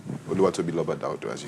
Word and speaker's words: Oluwatobiloba: Oluwatobiloba.